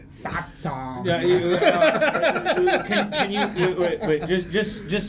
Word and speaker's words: Satsang: Satsang. Yeah. can you, wait, just so we can. Satsang. Can you spell it out S-A-T-S-A-N-G.